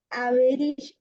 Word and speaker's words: avaricious: I grant him bloody, luxurious, avaricious, sorry क्या होगा इसका अवेर pronunciation?